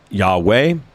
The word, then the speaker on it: Yahweh: The Bible scholars, the theoretical pronunciation of that is basically Yahweh.